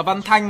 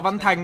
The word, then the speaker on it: Văn Thanh: Còn tôi đọc là Văn Thanh mà tôi đọc là Văn Thành đâu. Ông lại tôi đọc rất rõ là Văn Thanh.